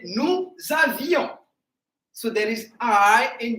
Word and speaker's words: nous avions: There is I between V and O. Once again, nous avions.